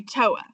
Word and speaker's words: TOA: And then on the back, you'll see, if I can see it, TOA, which we're going to say TOA.